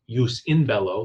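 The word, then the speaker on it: jus in bello: war which would be use in Bello the J is in Latin pronounced the Y sound but but use in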